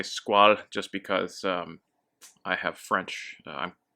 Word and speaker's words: Squale: So as far as pronunciation goes, I'll say Squale just because I have French connections. My family's French, so I'll say it the French way.